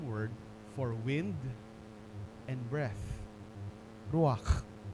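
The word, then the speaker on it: רוח: Ruak. Ako humalak no? Yan talaga yung pronunciation niyan sa Hebrew.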